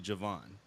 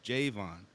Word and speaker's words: Jayvon: spell Jayvon so I everybody call me Javon cuz when they see the way my name is spelled they say Javon so I said no it's Jayvon cuz there's no a and if they and